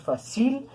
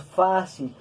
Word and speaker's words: fácil: grave con acento ortográfico no decimos fácil decimos fácil y le colocamos tilde por la regla de acentuación entonces fácilmente esto va